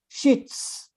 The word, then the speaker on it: sheets: In onions, it's pronounced z, onions. But in sheets, it's s, sheets.